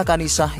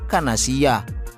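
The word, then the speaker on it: كنيسة: Kedua, kata kanisah yang artinya gereja oleh Gus Miftah dibacanya kanasiyah.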